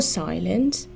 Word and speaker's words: silent: for example silence more silent most silence please note that the stress in silent is on the first syllable adjectives with three syllables